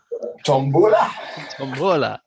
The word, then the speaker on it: tombola: there we go and they've also got the Geordie pronunciation as tambala tom boylar so there we go